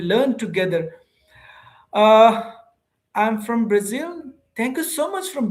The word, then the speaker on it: Brazil: Brazil? Z, right? Not G. Brazil.